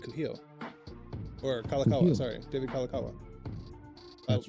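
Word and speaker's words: Kalākaua: signed by David Cujo or kalakaua sorry David kalakawa that's right because I got his name wrong first at first yeah I was about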